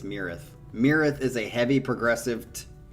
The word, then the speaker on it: Myrath: how to pronunciate this this is called mirath i think it's mirrith or myrath i think it's mirath but uh the the hick way of saying it would be like my wrath quesadilla my wrath but